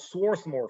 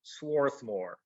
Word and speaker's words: Swarthmore: And then you get to Swarthmore Road, because that's how the Northerners pronounced Swarthmore. So here's Swarthmore.